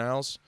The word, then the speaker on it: isle: in in the broken Isles so excuse me isle broken isle now that I know the S is silent he was very under